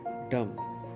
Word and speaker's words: dumb: गूंगे की इंग्लिश है डम। डम के स्पेलिंग है DUMB। बी इसमें साइलेंट है फ्रेंड्स, आपने सिर्फ पढ़ना है डम।